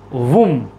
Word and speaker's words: womb: यहां पर बी क्या है? साइलेंट है।